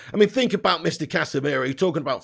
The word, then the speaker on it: Casemiro: Why did you have to say Casemiro? You added in a whole different sound of a syllable there almost. Well, not a syllable, but you definitely messed up there, Zane. Casemiro.